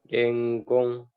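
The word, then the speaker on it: 伝言: Denggong. Denggong ya. Minasang mungkin ada yang baru dengar ya, denggong. Jangan dengon bacanya, denggon ya.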